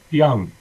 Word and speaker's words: Jung: Young. Pronounce the J like a Y.